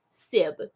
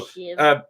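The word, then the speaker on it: sibh: It says Conas Ada Sib. That's not how you pronounce it. It might be. You wouldn't know that, would ya? Well, actually, I do. I can. It's Conas Ata Shiv.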